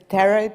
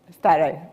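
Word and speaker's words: Sztáray: Peter Serej, did I pronounce it well? Starej, okay.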